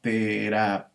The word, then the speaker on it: terapéutico: aquí está el diptongo terapéutico esta es una palabra esdrújula este porque la sílaba tónica está en la antepenúltima sílaba y tenemos que centrar